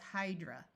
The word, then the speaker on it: hydra: Notice that A at the end of a word usually schwas to a muffled sound. That's why it's hydra.